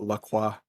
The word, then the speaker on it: LaCroix: uh that being said if lacroix decides to uh sponsor us i will even pronounce the name properly and call la cua i don't know i